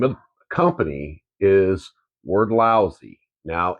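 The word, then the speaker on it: Wrdlsy: name of company is word lousy now it's spelled odd so it's w r d l s y but it sounds like word but there is no o in it but it's word lousy and they make welders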